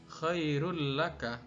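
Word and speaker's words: خير لك: Begitu juga pada contoh yang kedua, khairun lakah, secara tulisan bacanya adalah khairul lakah.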